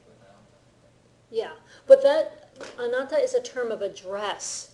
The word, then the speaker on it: anata: And sometimes instead of anata fully pronounced, it ends up being anta, which can come across as rude, but it can also come across as just, they've got a very close relationship.